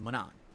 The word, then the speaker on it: Manon: use to do that it's pronounced Manon that's how you pronounce your name not Manning it's Manon that's what I thought